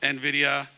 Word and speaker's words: Nvidia: probably have heard of Nvidia um and that that's by the way how it's also pronounced Nvidia um many of you